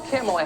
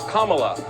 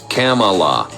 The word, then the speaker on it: Kamala: um hosts on Fox her name is pronounced comma like the punctuation mark look Kamala okay seriously I've heard every sort of so that's how it is it's Kamala not Kamala Tucker but I suppose